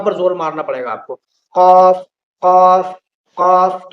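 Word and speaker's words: ك: बाद आता है काफ इन दोनों के दरमियान बड़ा फर्क है कफ ये मुंह भर कर बोला जाता है और पुर बोला जाता है इसके अंदर क्या दूसरा होता है काफ ये बारीक बोला जाता है कफ कफ आपको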